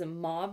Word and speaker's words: mauve: The two shades that I love, one is mauve nude and then the other one is light nude. Is it mauve or mauve? Let me know how you say it. I say mauve. I feel like it's fancy.